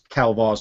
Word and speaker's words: Kelvar: And you can almost, and the way he says Kelvar's name, he says it as in Kelvar rhymes with Bantha Poodoo.